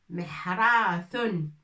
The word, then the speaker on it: محراث: Et le laboureur, ça s'appelle, بالعربية, dans la langue arabe, ça s'appelle محراث.